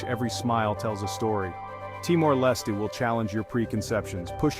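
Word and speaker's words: Timor-Leste: The name Te-our Leesty. Teour Lee. It might take a few tries to get it right, but that's part of the fun.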